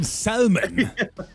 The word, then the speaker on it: salmon: I stay silent just like the L letter in Salmon.